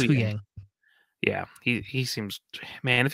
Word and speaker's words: Huyang: That's how you pronounce it. I always want to go Yang, but that it's Huyang.